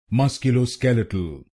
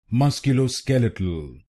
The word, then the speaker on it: musculoskeletal: skeletal musculo skeletal and in this word you have to stress on the fourth syllable musculo skeletal musculo skeletal now you know the